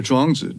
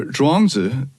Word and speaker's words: Zhuangzi: And the wisdom of the Zhuangzi doesn't just help you be more successful.